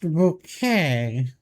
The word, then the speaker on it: Bucket: Mrs. Bucket. It's pronounced bouquet.